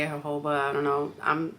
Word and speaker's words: jojoba: I think that's how you say it, jojoba. I don't know. The J is a H sound in Spanish, so that's how I'm gonna say it.